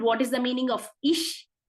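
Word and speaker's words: ich: in German it is Ish I would like to say once again the pronunciation of I in German is Ish yes in Canada is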